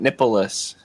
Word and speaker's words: Nippolas: And it's like Nicholas, but Nippolis.